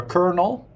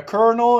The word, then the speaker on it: colonel: than a lieutenant a colonel I don't remember I don't remember but a colonel is a great example of Sil letters it's a great example of silent letters definitely not an easy